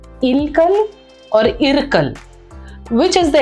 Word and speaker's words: Ilkal: Ilkal is the right pronunciation and the right spelling of this word.